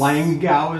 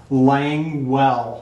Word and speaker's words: Languell: And Langau is how I pronounced it. Langau. And then she had a note in there. Yes. Languell.